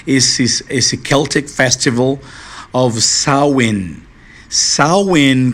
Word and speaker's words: Samhain: Samhain, como você pode observar, escreve-se assim, né? E pronuncia-se assim, Samhain.